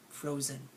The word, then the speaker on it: frozen: next word frozen frozen think about how many syllables are in frozen to write two there's two syllables in frozen so think about which one is the lazier part fro or Zen frozen it's the second part frozen frozen this is almost making